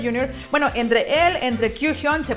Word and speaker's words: Kyuhyun: Bueno, entre él, entre Kyuhyun, se pronuncia Kyuhyun, licenciado, y Ryeowook, que son la subunidad de Cry, son unos vocerrones impresionantes y Yeseong no fue la excepción a estos.